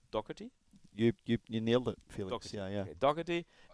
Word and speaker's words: Doherty: How's the last name pronounced? Doherty?